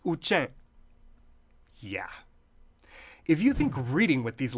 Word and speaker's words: Uchen: And this, the name for this Klingon-looking beauty that is the Tibetan script, how do you think it's pronounced? Any clue? Time's up. It's Uchen.